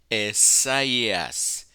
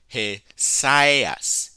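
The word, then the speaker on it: Ἠσαΐας: So you have Esaias, Esaias. If this were a diphthong, it would be Hesias, Hesias, but it's not that way. Because of the diaresis, you pronounce Hesias, Hesias.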